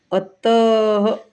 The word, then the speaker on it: अतः: इसका उच्चारण हल्के ह के समान होता है। अतः, अतः ह बोलते हैं अपन बाद में। जैसे ये अतः, प्रातः, ये देखो अतः, प्रातः अपन बोलते हैं प्रातः, लेकिन जिसको नहीं पढ़ना है वो कैसे पढ़ेगा?